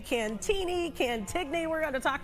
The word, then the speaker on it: Cantigny: It's Cantini. It's a silent G. It's a French pronunciation.